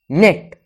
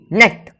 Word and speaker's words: net: सो ए, अब देखो NET नेट, इसे ये नहीं पढ़ते हो नेटो, इसे ऐसे नहीं पढ़ते, इसे डायरेक्ट पढ़ा जाता है नेट।